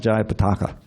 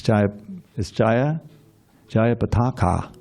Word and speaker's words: Jaya Pataka: And we learned last year, I think it was, that there's a long A at the end. It's not Jaya Pataka. It's Jaya Pataka.